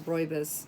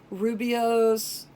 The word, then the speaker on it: rooibos: other nice thing is it tells you how to pronounce it is rooibos cuz I don't know for years I was pronouncing it wrong I was like rubio's Rui Boies Rome Bo up you pronounce this no